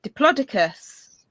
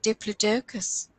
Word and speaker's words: Diplodocus: know you know I always called it uh diplodicus but you know what does I always said diplodicus and then somebody on the BBC said Diplodocus Diplodocus yeah no dioicus but then the same